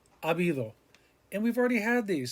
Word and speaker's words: habido: Remember, all of these, the H is silent. Hubo, había, habrá, haber, habido.